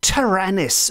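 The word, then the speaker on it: Taranis: very very quick language lesson but the name tyrannis we are told which is spelled t-a-r-a-n-i-s is handed down as one of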